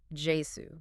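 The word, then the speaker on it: Iesu: Yes, he uses the old English spelling, Jasu. Right. He breaks it down into syllables, I-E-S-U, meaning I ease you.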